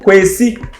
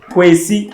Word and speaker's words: Kwesi: So if you're Sunday born in Ghana and a male, you are called Kwesi. Kwesi. Can you pronounce it?